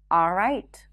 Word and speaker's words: all right: next hack is that you don't have to pronounce the L in the words always all right and already it's not a mistake to pronounce the L but if you're struggling with the L just drop those sounds simply pronounce an ah sound right before always already all right